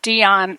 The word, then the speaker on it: Deyan: Spell it again, please. So sure, DEYAN. DEYAN, Dion.